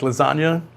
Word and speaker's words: lasagna: Real G's move in silence, like lasagna.